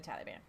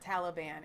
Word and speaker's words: Taliban: Yeah, they're the Taliban. It's not Taliban. It's Taliban. Like you're gonna say they